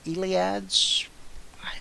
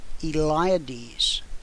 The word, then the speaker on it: Eliades: to you about the Peter Peter ilads I wrote that down so I would remember how to say it eliades Peter eliades he wants